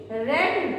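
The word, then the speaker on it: read: Form लगनी है, रीडिंग, तो रीड रेड रेड होता है, लेकिन प्रोनाउंसिएशन केवल रेड रेड हुआ है, स्पेलिंग वही रहती है, आई है रेड, बन गया।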